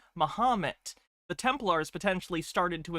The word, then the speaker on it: Mahomet: It's a corruption of the old French pronunciation of Muhammad, which was Mahomet.